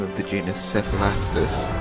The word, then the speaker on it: Cephalaspis: Mutilates the name of the genus Cephalaspis, pronouncing it as Cephalepsis.